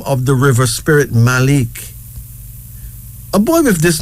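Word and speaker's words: Malek: Here's another one, Maliki. Maliki. M-A-L-I-K-I, pronounced as Maliki.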